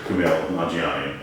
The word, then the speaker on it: Kumail Nanjiani: Well, I'm happy to say I'm here with the great Kumail Nanjiani, and I'm happy that I got it right, because I think that's important for people to know how to say your name.